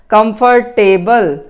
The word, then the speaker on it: comfortable: this dress is comfortable again you don't have to speak here comfortable it is not pronounced table oh I won't drag